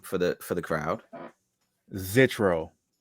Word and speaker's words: Zitro: I had a bar where I pronounced it Zitro. And Yeah, I forgot I was like TRD and Zitro, like some cheat codes. right. I was like, yo, did anybody ever rhyme Zitro with cheat codes before?